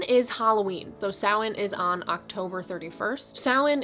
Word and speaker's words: Samhain: If you aren't pagan or Wiccan, you probably haven't heard the word Samhain before, but it's not spelled the way it's pronounced. Samhain is Halloween, so Samhain is on October 31st.